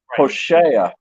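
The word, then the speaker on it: הוֹשֵׁעַ: It's not like Hosea and Joshua in the English. In the Hebrew, it's Hoshea and Yehoshua.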